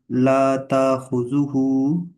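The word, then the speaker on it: תַأْخُذُهُ: This one is la, and when Hamza is silent, like Hamza has a sukoon or jazm, we will read it with a jar voice, like La ta'khuzuhu ta, not ta. We will read it ta khuzuhu.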